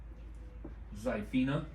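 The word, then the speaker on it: Xiphina: How does she spell it? Zyphenia. Yeah, Phi for short. It's X I P H I N A. Zipina.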